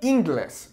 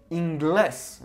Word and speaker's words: inglés: would fall on here, the second to last vowel, which is technically the E in this case, or I, okay? So it would be inglés, which sounds weird. So we say inglés, okay?